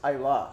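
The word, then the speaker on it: Islay: It's actually pronounced Isla.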